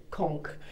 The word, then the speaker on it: conch: pretty pastel hued a con Pearl is a calcus concretion produced by the queen conch pronounced uh con or conk um mollusk which is